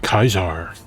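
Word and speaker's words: Caesar: voice acting going no no mr dorn it's pronounced kaiser like josh sawyer you dork what makes the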